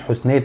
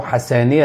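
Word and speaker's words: حسنية: النطق الناس قالوا لي النطق الصحيح بتاعه مش حسنيه اغادير النطق السليم بتاعه حسانيه اغادير فخلينا نسمع كلام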